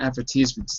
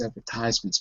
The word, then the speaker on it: advertisements: chat window Lena and notice where the stresses uh advertisements uh you're right I wrote it wrong it's not advertisements though it's advertisements but I wrote it